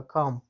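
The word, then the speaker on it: comb: لکه کام، کام، بام، بام. ګورئ ګرانو لیدونکو، کام غمنځ ته یا ږمنځ ته وایي چې د کلمو په وروستیو کې له ام څخه وروسته بي راغلي نه تلفظ کېږي.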